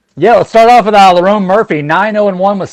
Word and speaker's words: Lerone: And they always want to throw me for a loop with names because forever I was thinking it was Leron or something like that, but it's Lerone.